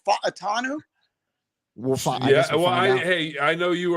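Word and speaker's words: Fautanu: do we think TR fanu Troy fanu you have to say it the Polynesian Hawaiian way isn't it f atanu I hey I know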